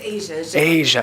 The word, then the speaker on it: Asia: want to I don't how do you say your first name Asia continent Ste Dan song Awesome